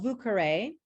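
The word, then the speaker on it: Vieux Carré: As far as the vouqueré is how they pronounce it down there.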